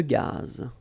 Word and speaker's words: gaz: Une conduite de gaz. Final not pronounced here.